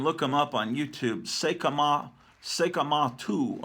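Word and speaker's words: 聖飢魔II: Sekamatu or Sekamasu is how they pronounce it in Japan.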